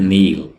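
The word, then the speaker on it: kneel: English में बोलते हैं नील नील यहां पर के को नहीं पढ़िए के यहां पर साइलेंट है और यह वर्ड है नील रा नेक्स्ट इ सीटी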